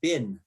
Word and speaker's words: been: sentence like that um in canada we pronounce it bean but in the united states they pronounce it bin right so i i